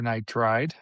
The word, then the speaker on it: nitride: Nitride or nitride?